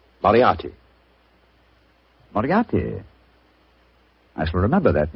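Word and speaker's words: Moriarty: Moriati.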